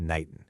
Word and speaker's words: n8n: First things first, it's pronounced n8n.